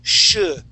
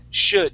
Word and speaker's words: should: at the end okay forget about the L that's in the middle okay the word the word isn't should okay that L is silent we say should should oh should should there